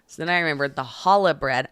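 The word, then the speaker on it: challah: then I remember the Hala bread I first pronounced Chala because it had a CH on it and so then I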